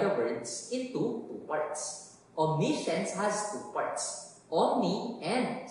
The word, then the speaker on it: omniscience: This week, our word is spelled O-M-N-I-S-C-I-E-N-C-E. Can you read it? It is pronounced omniscience. It has three syllables, hindi omnisayat, but omniscience.